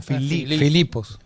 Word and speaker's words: Filipos: Filipos. No tiene acento en la O, pero... ¿Ah? No, Filipos. Una palabra llana.